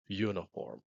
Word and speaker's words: uniform: on son on exemple mot ça écrit n i f o r M prononcé uniform ok ALRI les prononcer you for uniform uniform donc même si